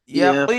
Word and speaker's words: اليقين: ثم لترؤنها عين اليقين ইয়াকিন এমনি সিম্পল হয়ে যাচ্ছে, ইয়াকিন কিন্তু কাব উচ্চারণ, ইয়াকুই, يقين ইয়াকিন।